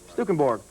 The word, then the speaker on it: Stukenborg: And how do you pronounce this guy's name, Coach? Phil Stukenborg? Stukenborg.